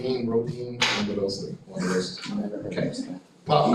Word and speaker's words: Rodin: Rodin. Okay, sing, yes. French pronunciation. Yeah, exactly. Rodin, one of those.